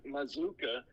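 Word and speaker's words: Mazzuca: And I was like, here's how to say it. And I played it on the radio, and it's him going, Michael Mazuka, Philadelphia. He's from, was he Pennsylvania? Mazuka. Even though the double Z and the double C are back-to-back there.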